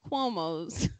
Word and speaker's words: Cuomo: the little cuomo's uh and we do get into this and cuomo rhymes with homo rhythm from you know